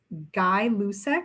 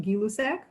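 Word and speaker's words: Gay-Lussac: the other increased directly the scientist's name was guy lucec or properly pronounced gilusac so this direct relationship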